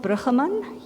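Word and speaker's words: Brueggemann: Walter, I would pronounce it Bruggeman. You would probably say something different, but he said, a God who injects hope into impossible situations.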